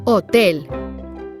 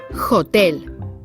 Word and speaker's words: hotel: has no sound nada it's mute silent so don't be tempted to pronounce it in spanish you say hotel and not hotel let's go back to